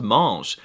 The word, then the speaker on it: mange: And if I want to say you, he, she, it, or they eat, the verb spelling does change, but they're all still pronounced mange.